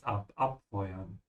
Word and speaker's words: abfeuern: Yeah, this is also a separable verb, so emphasize abfeuern.